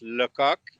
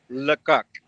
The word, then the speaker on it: Lecoq: Yeah, so my dad's French Canadian, and it's pronounced Lecoq in French. Oh, I love it. Wait, say it again. Lecoq.